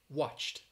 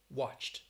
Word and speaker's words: watched: in your vocal cords so help ends with the it's a voiceless sound helped helped like watched watched watched i watched uh a